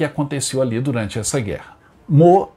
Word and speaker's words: Meaux: A nossa parada de hoje é na cidade francesa de Meaux. Essa é a pronúncia correta, o nome está escrito aí.